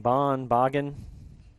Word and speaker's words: Boggin: Silent G in that name. Boggin.